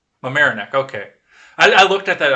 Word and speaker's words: Mamaroneck: of this is closer to you did I pronounce this correctly this morning Mamaroneck Mamaroneck okay I looked at that I'm like what